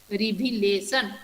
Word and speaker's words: revelation: Okay, and in this 4 syllabic word, where I put the stress mark, I put the stress mark at the third syllable.